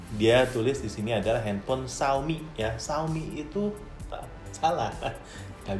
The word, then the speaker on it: Xiaomi: tulis disini adalah handphone Xiaomi ya Saumi itu alasan tak bisa ditemukan nanti kerapatan harus dibaca Xiaomi bukan suami atau siomay ya kalau handphone siomay